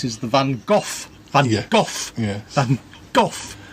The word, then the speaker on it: van Gogh: the van Gogh yeah golf you remember how to say it he got a bad cough absorb sounds like cough not like girl go no no not go golf like cough it's easy to remember